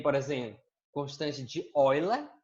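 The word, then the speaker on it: Euler: a escrita é essa então eu lá se inscreve eula mas a pronúncia é orla lilo nós vamos trabalhar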